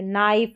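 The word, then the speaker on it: knife: क्योंकि यहां पर जैसे कि यह जो के है यह साइलेंट है नाइफ और नॉट करके पढ़ेंगे के एन के कॉम्बिनेशन का।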